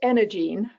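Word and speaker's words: EnergyEne: so and it's pronounced energene so the the y is silent um this we uh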